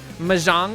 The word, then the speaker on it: Mahjong: Mahjong, Mahjong.